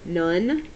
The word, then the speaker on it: none: and the words are none which is n o n e this sounds like you should write it nuu n but if you write